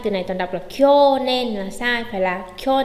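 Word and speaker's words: きょねん: Kyonen. Kyo nen. Chú ý không đọc là kyo nen, bởi vì kyo nen sẽ có trường âm, chúng ta chỉ đọc là gì thôi?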